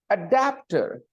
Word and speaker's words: adapter: first syllable scissors adapter adapter there are three bubble sounds and the stresses on the middle syllable adapter and that's why